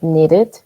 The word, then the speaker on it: needed: You said needed. Great, because este verbo termina en de, entonces se pronuncia como it, right?